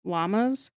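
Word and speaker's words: Lammas: It's also called ll llamas. Yeah, it sounds like a llama. Yes. But it's Luna.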